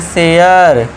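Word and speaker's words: share: ए के बाद आर इ आ गया फिर से तो इसे हम पढ़ेंगे शेयर। करे मत करना गलत हो जाएगा। इसे सरे मत कर देना।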